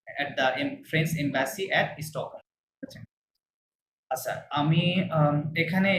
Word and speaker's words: Stockholm: France à Stockholm স্টকহোম না, স্টকহোম, হ্যাঁ? স্টকহোম। ওই আর কে Stockholm সাইলেন্ট রাখবেন। ফাইন।